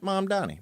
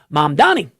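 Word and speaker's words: Mamdani: Mom Donnie. Mom and Donnie. Mom Donnie.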